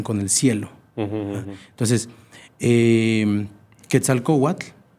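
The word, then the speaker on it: Quetzalcoatl: Entonces, eh, Ketzal Kowat, que también está así pronunciado mejor, Ketal Kowat, serpiente preciosa, es un concepto que viene de miles de años.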